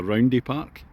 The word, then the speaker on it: Roundhay Park: That's the second hole here at Roundhay Park, or Roundhay Park, as it's pronounced by the locals.